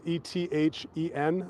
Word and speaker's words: Ethen: Okay, name and spell it for us. Hey, sure. Ethen. It's Ethen.